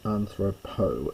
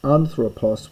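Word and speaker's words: ἀνθρώπῳ: The genative is anthropo and the dative is anthropo. Notice the little leota subscript. You must write it but you don't pronounce it but it's very important.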